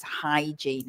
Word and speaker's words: hygiene: it sounds strange but it's hygiene is the pronunciation and then we have go on be careful of that eight sound as well especially if you're a Spanish speaker it's not from the throat it's not here it's just like you're cleaning your glasses hygiene hygiene hygiene